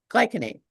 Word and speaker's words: glycinate: Am I maybe pronouncing it wrong? Diane's pronouncing it correctly.